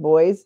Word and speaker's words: Boise: located simmeron is where boy or boy city is located it's spelled Boise like Idaho but it's pronounced boy and then to the